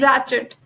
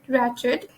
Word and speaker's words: wretched: Now proceeding forward, we have wretched. All right, the W is completely silent in a word wretched, and how we pronounce it, it's wretched. Wretched.